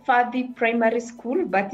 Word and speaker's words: Fadi: It was called Fadi Primary School, but it's spelled with a B. But in Kikuyu, we pronounce B as F. So Fadi Primary School.